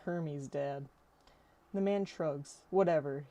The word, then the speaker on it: Hermes: Hermit. Hermes. I correct him. Right. Herman. The boy finally looks up. He said Hermes.